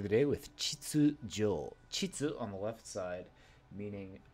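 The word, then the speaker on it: 秩: Chitsu on the left side, meaning regularity, salary, or ordery.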